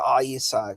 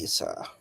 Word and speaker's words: Issa: He said Issa. That's how you pronounce my name, actually, because there's an ayin in my name. It's spelled ayin, yeah, sin, yeah. So that's Issa.